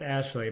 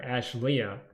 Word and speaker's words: Ashley: pronounces your name correctly Ashley is pronounced Ashley but I call her Ash Lea just because it makes her mad so uh nice com